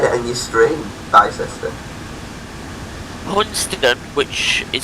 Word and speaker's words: Hunstanton: Hunston, which is spelled Hunstanton.